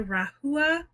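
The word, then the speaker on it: Rahua: a try okay next up we have the rahula that's how you say it color shampoo and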